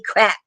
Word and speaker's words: craic: Example in a sentence: his birthday was such a crack, even though they got rained on. And it's spelled CRAIC.